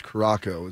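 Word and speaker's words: Curaçao: It looks like it's Caraco.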